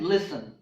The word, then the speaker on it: listen: castle hustle nestled rustle the letter T is also silent in the words fasten and listen okay the letter T